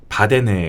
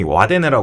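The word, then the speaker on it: Wadden: 처음으로 세계에서 등록된음 있어요 바데 갯벌이 이게 우리나라에서는 흔히 와데 부르는데 현지 발음으로 한 바데 바데 W 시작해가지고 데네 일업 쪽은 를로 음하는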